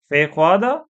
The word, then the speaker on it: feijoada: Feijoada? Am I pronouncing?